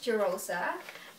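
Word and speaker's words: Jirosa: my real name is jerosa and i think i kind of assumed it to myself that i am because my name sounds like jerusalem but then the spelling is different it's spelled as j-i-r-o-s-a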